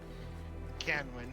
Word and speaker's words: Canwin: I don't know why I said Cranwin. So wait. Time out. Time out. Put it in roll 20. Put it in roll 20, how it's spelled. Canwin. Okay, Great. there's no R.